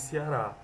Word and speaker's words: Ceará: Transformação de E, em I ou I, fato que ocorre de modo geral na língua portuguesa. Entretanto, nos dialetos nordestinos, Em particular no cearense, essa transformação ocorre também em qualquer posição em que as sílabas de uma palavra estiverem localizadas. Por exemplo, Ceará se diz Ceará, segunda, segunda, pentear, pentear.